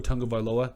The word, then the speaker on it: Tagovailoa: And Tua Tagovailoa, that's right, I said it right again, because we love you guys.